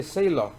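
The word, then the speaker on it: Thaler: 자, 그러면서 이제 트버스키하고 카너먼이 그런 논문을 전망 이론을 갖다 발표를 하고 이코노메트리카에다가 그 다음에 이제 세일러 여기는 또 세로 썼네요. 세일러라고 하는 게 더 발음이 가까워요. 사실은.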